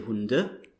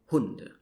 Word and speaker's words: Hunde: So in German, usually you stress the first syllable in the words. So you wouldn't say Hunde, but you would say Hunde.